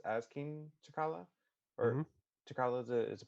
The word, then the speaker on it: T'Challa: T'Challa is the pronunciation of his T'Challa.